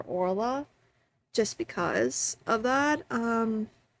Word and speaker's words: Oirlaith: in the previous videos I took inspiration from the the Irish Gaelic pronunciation and spelling of her name. So, as of personally for me, um I pref I would call her Ora just because of that.